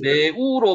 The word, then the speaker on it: 르우: 실제로 발음이 레우로 발음이 되는 거죠. 레우. 우리말로 르우로 발음이 되지만은 레로 발음이 되는 거죠.